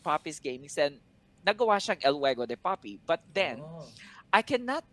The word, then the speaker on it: El Juego de Poppy: So sabi ko, okay, let me just create the name to El Juego de Poppy. And a lot of people have been really are really having a hard time pronouncing it.